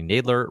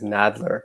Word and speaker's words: Nadler: have missed today I'm excited to welcome Lonnie Naylor writer of black stars above let me stop